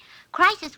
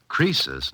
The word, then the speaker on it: Croesus: Crisis was a rich king. Oh, don't you know, Suzy? Croesus, not Crisis, was a rich king.